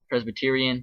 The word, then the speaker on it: Presbyterian: presta bursting i don't even know how to pronounce that school presbyterian that's how you pronounce it sorry this game's